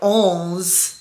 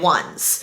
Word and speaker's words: onze: Ones, which really is pronounced like onz in French, is 11 in French. But it's spelled o n z e. We're pronouncing it Ones because in pickleball when